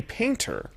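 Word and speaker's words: Paynter: and founder Randy paint randy painter so weird because this is spelled PA Y and ter nevermind said in a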